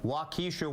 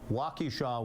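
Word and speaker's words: Wausau: was Connor and I said blunt it's actually pronounced Blount I also said he was from wesa Wisconsin it's more I'm told wesaw Wisconsin so my reaction was wow this guy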